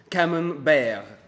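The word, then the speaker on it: Camembert: oh B it's bear it's pronounced bear it's French camon bear eeral that's thank you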